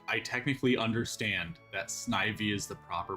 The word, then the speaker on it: Snivy: he he he looks he's a snake made of ivy. So I understand it's supposed to be pronounced snivy but snivey sounds better so I don't care.